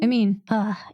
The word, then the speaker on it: amine: No, amine. English, amine. The IPA says amine.